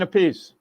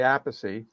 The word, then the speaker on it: Appice: Apache all this stuff so carine ask Rod how do you uh pronounce it and he says a piece so he became Kine a piece and I don't want to say piece sounds like a piece of pizza so and then we